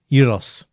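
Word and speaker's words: gyros: you call it uh Euros but spelled like with the G but they dropped the G in in uh in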